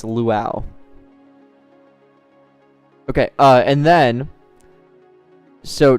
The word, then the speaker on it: Luau: I get a lot of people trying to correct me saying that it's Lua and then I send them the screenshots, the links of the pronunciation and uh then they don't respond. It It's luau.